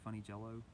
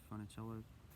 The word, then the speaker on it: Funicello: She calls her Funny Jello instead of Funicello.